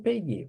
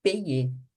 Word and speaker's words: payer: A pronúncia do verbo conjugado A pronúncia do verbo conjugado no vós e o verbo no infinitivo é a mesma, tá bom? Então, ó, vous payez. O senhor paga, a senhora paga, vocês pagam. E payer, pagar, é a mesma, tá? A pronúncia é a mesma. Não precisa pensar, ah, tá errado. Não, tá certo, é a mesma coisa.